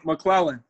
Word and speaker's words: McLellan: How do you pronounce it? Well, Mclellan.